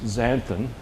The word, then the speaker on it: xanthin: It's actually pronounced xanthin, right, for the X.